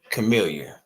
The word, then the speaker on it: Camillyah: me see let me see if I can say it right Chamilia right you said it right earlier and I was surprised